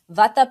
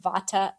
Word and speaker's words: Vata: And either you are Vata, Pitta, or Kapha, like you said, and in the West we pronounce them Vata, Pitta, and Kapha.